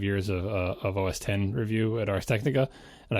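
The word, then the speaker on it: Mac OS X: and I noted that even Steve Jobs had said X instead of 10 on stage.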